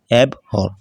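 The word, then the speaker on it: abhor: এব অর মানে তীব্রভাবে ঘৃণা করা।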